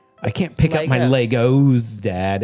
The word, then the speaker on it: Lego: brings up the Lego multiple Lego is not Legos it's still Lego yeah yeah well that that's the Swedish pronunciation period Well then I